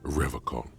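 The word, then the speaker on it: Revachol: He pronounces Revocol with a hard K, unlike other people.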